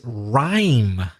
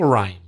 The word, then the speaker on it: rhyme: Another common thing, Craig, is rhyme. Can you spell rhyme? Yes, Rhyme. Rhyme. The pronunciation rhymes with time.